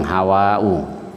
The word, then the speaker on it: Hawa: Jadi Hawa itu bacanya panjang, Hawa'u.